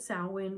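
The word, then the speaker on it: Samhain: what the Kelts celebrated they did call it sawin which is spelled like Sam Hayne and it was all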